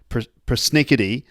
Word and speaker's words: persnickety: Now, Sarah said the word persnickety, actually pronounced with her American accent, persnickety, and I stopped her because I said, what, persnickety?